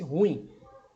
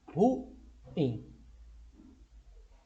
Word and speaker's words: ruim: E ruim, palavra que muitas pessoas pronunciam de forma errada, pronunciam como se fosse um ditongo, pronunciam como se fosse ruim, mas na verdade a pronúncia correta é ruim.